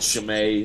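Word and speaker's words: Chimay: um um it's uh it's called chimei it's from Belgium chimei spelled with ch and uh if you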